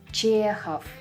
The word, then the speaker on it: Чехов: All the Russian male surnames that end with ov will also be pronounced with f at the end. Чехов, Булгаков, Лермонтов.